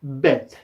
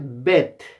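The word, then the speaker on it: בית: Entonces, uno no dice Bet, uno dice Bet, ¿ya? Bet. Y ahí suena una E para nosotros. Entonces se escribe B-E-T, pero en el fondo no hay una E, ¿ya?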